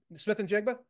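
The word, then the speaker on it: Smith-Njigba: Smith and Jigba is playing. I can't pronounce his name. You hit it. Smith and Jigba?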